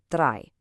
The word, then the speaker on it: drei: For these two, you just pronounce the second letter. So in IE, the second letter is E, so you get an E sound. In EI, the second letter is I, so you get an I sound.